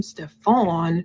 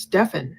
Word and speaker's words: Stefan: almost like she's saying don't call him Stefon his name is pronounced Stefan Jennifer says no I